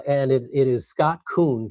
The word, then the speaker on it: Koon: Uh and it it is Scott Koon, K O O N, just like the animal but with a K, is how I uh is how I say it when when I'm introducing myself to people.